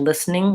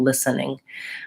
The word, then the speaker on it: listening: In rapid speech, I'm listening to you, listening. I would reduce it down to 2 syllables and no schwa.